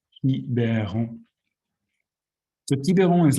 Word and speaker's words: Quiberon: It's written like Quiberon, but it's pronounced Quiberon.